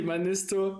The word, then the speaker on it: Manisto: I try in Finnish everything is pronunciated exactly as it is written.